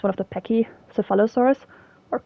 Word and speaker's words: Pachycephalosaurus: Could also be like you name it after something like the I think it's one of the Pachycephalosaurus or Cephalo, if you want to pronounce the C to K.